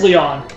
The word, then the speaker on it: Leon: So yeah, that is Leon. Like, that's how you really pronounce. I was saying the Lion.